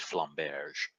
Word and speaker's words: flamberge: to point out that it's a French word and it's pronounced flamberge is it for matters